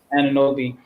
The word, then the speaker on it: Anunoby: And I think like OG, I can't pronounce his last name. From OG Anunoby? Anunoby.